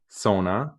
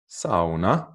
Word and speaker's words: sauna: in english is sauna sona and finnish pronunciation is something like sauna something like that and this this is